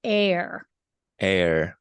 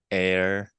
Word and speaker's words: err: it's spelled right so it's pronounced air air like same as air just like the air you breathe okay and and it's